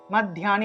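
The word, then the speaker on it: মধ্যানি: এর সাথে জ ফলা ঠিক একইভাবে মাধ্যানী মাদ মাধ্যানী এভাবে মাধ্যানী মাধ্যানী এভাবে এক শর্ত উচ্চারণ করতে হবে ধ্যান শব্দটা ধিয়া শব্দটা একসাথে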